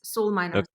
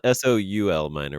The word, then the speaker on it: Solminer: how you pronounce it yes Soul minor not but not s o l minor which sounds horrid like we you guys Harvest souls or something oh that's interesting because